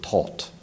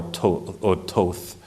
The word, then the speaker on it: Thoth: blueprint, the Book of Thoth. Thoth, some might accidentally pronounce it as Thoth or Toth.